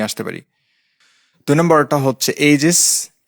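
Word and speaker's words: aegis: তো এইজেস কিন্তু পুরোপুরি উচ্চারণ হয় না। এর উচ্চারণটা কাইন্ড অফ এজেস টাইপের।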